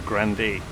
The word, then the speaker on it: Grande: come past the Headland Ribera Grande or Grande I'm always aware that people pronounce Grundy wrong because they take it as red that it's going to be in the French or Spanish form and then you get someone like Aria Ariana Grande comes along and everybody was